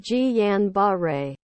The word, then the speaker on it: Guillain-Barré: Guillain-Barré, pronounced Guillain-Barré, syndrome is an example of a demyelinating disease of the peripheral nervous system.